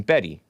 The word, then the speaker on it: Bette: Oh, Davis pronounced her name Betty Davis.